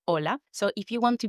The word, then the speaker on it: hola: see the letter H, don't pronounce it. Pretend it's not even there. The hallmark of a beginner learner pronouncing the H in words like hola, they could say hola with the H instead of hola.